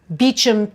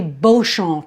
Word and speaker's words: Beauchamp: For instance, they have a street in London called Beauchamp Terrace, right? But it's really Beauchamp Terrace, as in beautiful field. And they say Beauchamp.